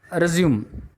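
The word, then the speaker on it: résumé: இடத்துல இருந்து தொடங்குதுன்னு அர்த்தம் இது வந்து ரெஸ்யூமே உச்சரிப்பே வேற பாருங்க இதை ரெஸ்யூம் படிக்கக்கூடாது பல கம்பெனிஸ்ல அப்படித்தான் சொல்றாங்க உங்க ரெஸ்யூம் கொடுத்துட்டு போங்க பார்க்கிறோம் அப்படின்னு இட்ஸ் எ ரெஸ்யூமே சோ சிவி ரெஸ்யூமே இது பார்த்துக்கோங்க இதுல எது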